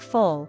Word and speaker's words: full: Take full, fl, and fool, full. In full, the vowel is short, similar to the Spanish u in nulo. But fool has a longer, more rounded oo sound, u.